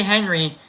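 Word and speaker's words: Henri: of Life next section Henry bergon I'm going to say Henry even though it's spelled h e n r i and usually that's like Frenchy um and and uh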